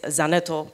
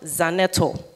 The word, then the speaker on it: Zaneto: name is important so my name for example is zan atoll which means that darkness must cease it's a command so when my name is mispronounced it changes the entire meaning because the language is tonal as well so it's not zan nettle is done at all you are commanding the